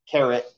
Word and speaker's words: caret: can still say 5,280 caret 3. Interestingly enough, again, me with weird words. It's not spelled like carrot like jewelry or carrot like the vegetable. It's C-A-R-E-T.